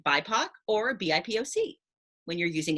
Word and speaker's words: BIPOC: i'm claudia alec and today we are understanding b-i-p-o-c b-i-p-o-c is an acronym that stands for black indigenous and people of color it's usually pronounced by poc or bipoc when you're using it in a